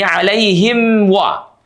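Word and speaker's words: عليهم: Sama halnya seperti nomor 7 tadi, anamta maka di sini alaihim wa pastikan mimnya dibaca dengan rapat.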